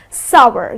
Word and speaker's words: sour: , so it's - you can rhyme it with power or shower so its sour. The correct pronunciation is sour because many people pronounce